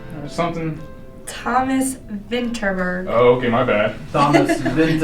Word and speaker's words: Vinterberg: what do you say his name was Thomas winter burger or something Thomas Vinterberg okay my bad Thomas things ever yes tell